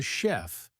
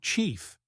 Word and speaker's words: chef: You know, another one I remember was a student who said, "My father is a chef, but they pronounced it like chief."